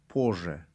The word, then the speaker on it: позже: پوز ژ نوشته شدگی لیکن پوز ژ نمیخونید. درستتر تلفظ کردن دیرتر با زبان روسی پوژه. پوژه. خب زنگ میزنم. позвоню. позвоню. من یا دیرتر позже زنگ میزنم.